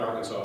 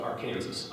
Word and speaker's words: Arkansas: I'm sorry, not Arkansas, Arkansas.